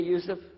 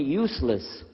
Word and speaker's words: Yousef: work on it hallo my name is Yousef you say Yousef let me say you sir very good I wish to teach my wife she keeps mispronouncing it she calls me useless humble F now how